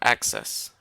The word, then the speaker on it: access: I noticed you put the accent on the wrong um, syllable for access, right? So it's like Mhm. access. So the accent should be in the middle. On the first one, Access, access. The emphasis should go access.